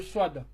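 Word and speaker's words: صاد: La sin et le swad. Donc ici c'est s et ici c'est so avec la bouche pleine. D'accord? Ici c'est s avec sifflement. Hein, et ici c'est la bouche pleine. So.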